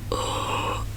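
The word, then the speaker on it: 火: Yeah, just make an O shape with your mouth, and I guess in English it's probably something like or I really can't find the equivalent, but something like whole, H-A-L-L, but you have to make your mouth really round, like or.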